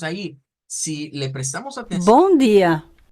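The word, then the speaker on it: bom dia: si le prestamos atención bu día esta persona a pesar que es brasileña no nos la está pronunciando miren con el sonido gia vean no la está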